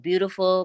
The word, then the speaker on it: B3autiful: that on all platforms beautiful my name be the number three a-u-t-i-f-u-l you have to spell it like that and then no control